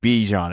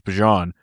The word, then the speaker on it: Bijan: There's a pronunciation of that. It's not Bijan. I think it's Bajan.